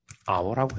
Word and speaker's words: hour: H가 발음이 안 되니까 그러면 on hour라고 해야 된다.